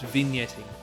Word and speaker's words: vignetting: Usually, a game-winning shot looks like this, with beautiful slow-mo chalk dust, and vignetting, and Is there a hard G in vignetting? Yeah. No, it's vignetting.